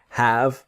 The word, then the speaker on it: have: This is the idea of have and a noun. So the pronunciation is have never have or anything like this. The e is silent. So it's have.